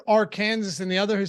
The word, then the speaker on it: Arkansas: for me why is there Kansas and then are Kansas but it's pronounced Arkansas I have no idea I've never heard anybody pronounce Arkansas differently though no no Arkansas is pronounced Arkansas but I'm saying it's literally our Kansas oh